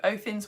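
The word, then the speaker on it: Óðinn: mythology, Othin, which is like Odin, but the proper way of saying it. I know, right? Who knew? Othin's wedding.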